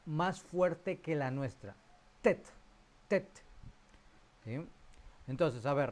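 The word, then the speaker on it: טֵית: Y la última de esta tarde, de esta clase, es la letra tet.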